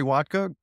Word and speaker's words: Wodka: Well, my name's Wodka, and it's pronounced just how you think, vodka with a W.